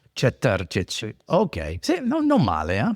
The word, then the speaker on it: Četrtič: Si O pronun- americani si come pronuncia me? Cetartic. Cetarčić.